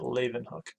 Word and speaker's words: Leeuwenhoek: That's how you say it, Leeuwenhoek.